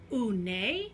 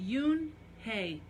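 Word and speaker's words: Unhei: girl asked you and hae said you'd hey hoon a the girl asked scrunching up her face hoon a some kids chanted no no you and hae corrected it spelled you and hae I it's pronounced Yoon hae oh it's you hey the boy said like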